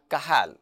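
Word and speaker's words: Cajal: kahal yes the pronunciation although it's written like this but pronunciation is kahal it's named after spanish pathologist santiago ramon by kahal so this is an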